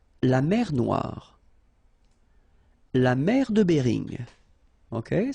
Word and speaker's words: Noire: Then here, la mer Noire. Same thing here that we had previously. Final not pronounced, okay? And then OI, remember, wa, noir, noir. La mer Noire, okay?